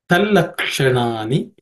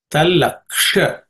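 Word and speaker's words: तल्लक्षणानि: Talaksha. This ksha is uk and sha. The sha is cerebral sha. Tip of the tongue should point towards the roof of the mouth.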